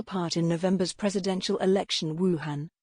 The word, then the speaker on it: Wuhan: played a central part in november's presidential election wuhan wu horn a city in china's hubei province which was